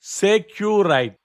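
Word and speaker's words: sécurité: In voice communication, the signal word is securite, pronounced as securite.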